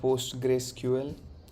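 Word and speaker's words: PostgreSQL: thank you right it's called it's called post Grace ql or post we are post gray postgres in short that's what it sounds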